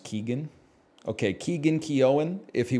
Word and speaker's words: Keoghan: It's just pronounced Keegan.